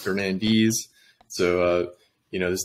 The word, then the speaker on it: Fernandes: uh last time we we kept saying Fernandez it's actually pronounced Fernandez so uh you know